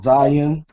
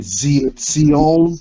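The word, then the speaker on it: ציון: This next letter is your Sade, making like a TZ sound, Sade, like in, they pronounce it Zion. It's really Zion, and this is the first letter in that word, Zion, like Mount Zion.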